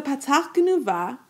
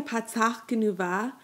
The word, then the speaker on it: patach genuva: But with a patach Genuva, the vowel is pronounced before the consonant, no, ach. Notice that the patach is sounded before the chet.